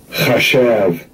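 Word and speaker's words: חשב: in the Lajuan Kadash, but in the modern Hebrew, this is how you would pronounce the word there for engine, or the root word for the word there for engine. Strong's H2803, chashav, chashav. All right, that's the root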